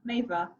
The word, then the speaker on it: Meava: your experience because well, first, how do I pronounce your name? Let's start with the It's Meava. basics. Say Yeah, again? Meava.